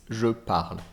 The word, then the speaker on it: parle: becomes je parle and notice there is no a sound at the end it's je parle okay so that's i